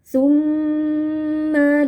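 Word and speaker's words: ثمّ: Tumma latarunnaha ainal yaqin. Tumma mim tasdid kita baca dengan dengung panjang.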